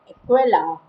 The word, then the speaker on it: Aquila: sagittarius scotland and corda the constellation name equella is pronounced equella in english the constellation